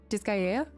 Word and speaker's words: Disgaea: Pronunciation, please. Somebody. I have that one. Disgaea.